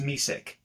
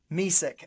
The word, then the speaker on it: Misak: The last name is pronounced Misak. Misak.